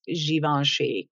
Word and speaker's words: Givenchy: One of my good friends pronounced them Givenchy once. She said she's talking to her boss and she said that her boss corrected her. Anyway, kind of embarrassing, but I believe it's pronounced Givenchy. Could be wrong.